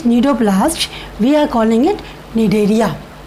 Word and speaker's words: Cnidaria: C is silent, Cnidaria. Right? Cnidaria, why the name is?